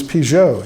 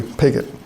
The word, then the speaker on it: Pigot: I used to think his name was Pjo, you know, nice French name, but then I read a diary and they, you know, they don't spell very well, but they do spell phonetically, so it's pretty clearly pigot.